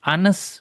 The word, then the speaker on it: honest: Honest, dibacanya honest.